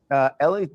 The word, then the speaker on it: Eli: I'm not sure if I'm pronouncing this right, but it's either Eli or Eli Nadav. And TMZ was able to speak with him. What does he know about Celeste? Ellie, his name is pronounced Ellie, and what he told